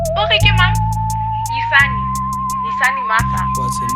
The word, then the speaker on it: Yisani Masa: Yisani Masa, hailing from Slum Town, but Bloem is where I lay my head down.